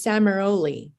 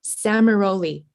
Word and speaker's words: Samaroli: December 1st is Samurai. Is that how you pronounce it? Samaroli.